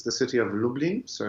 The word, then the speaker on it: Lublin: it's the city of lublin so it's like dublin but with an l now lublin has a